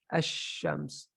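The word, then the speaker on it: الشمس: Whenever there's a shadda, so this is, you say ash-shams, you drop the lam right away.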